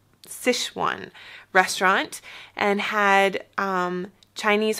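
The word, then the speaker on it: Sichuan: um a authentic sishan I always want to say sesan but you pronounced It sishan restaurant and had um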